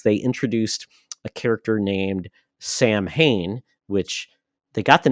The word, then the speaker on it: Samhain: And they created basically a pumpkin head type villain, which I thought was funny because they called him Samhain. Samhain. They got the pronunciation wrong.